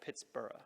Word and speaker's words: Pittsburgh: Pitt the Elder and technically if we were going by the Scottish pronunciation we should call it Pittsboro and what about Andrew